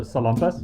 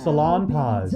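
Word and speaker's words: Salonpas: they call it like we all pronounce the salampas have you ever seen the mainland commercial for that they're like salon paws if you have any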